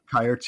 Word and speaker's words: Kayerts: So on the one hand, we have if I'm botching the pronunciation, Jared, correct me, but I go Kayerts. I said Kayerts. Yeah. Kayerts.